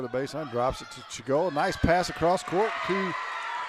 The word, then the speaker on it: Chigola: It's Chigola, and her pass is deflected out of bounds.